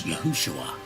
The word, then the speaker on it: Yahushua: You'll notice that we spell and pronounce the name of the Messiah as Yahushua, for reasons outlined in several articles to differentiate between the identities represented by the two transliterations.